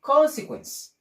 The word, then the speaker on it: consequence: word you can use consequence can you repeat that consequence the e is silent so consequence mh good consequence